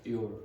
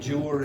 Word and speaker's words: your: And if I took that Y out and replaced it with an I and went like that, how do you pronounce that? Your. Okay, so eliminate those Y's. So you, instead of saying Jur and Jess and Jew, etc.